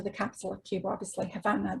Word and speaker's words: Havana: capital of Cuba, obviously Havana. The B is the original Spanish spelling. Originally, it was pronounced Habana.